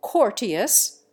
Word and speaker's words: courteous: The English make the first syllable of courteous rhyme with fort. The American standard rhymes it with hurt.